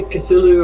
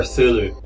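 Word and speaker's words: Cthulhu: very thulu isn't it do you say cthulu or thulu I say cthulu well I may well be pronouncing it entirely wrong yep now here's something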